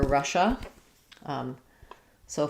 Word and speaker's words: Russia's: So for Russia, in English, we say this with the SH sound. It's first syllable stress, Russia. And then if I add the apostrophe, then it just adds a Z sound. So it sounds like Russia's.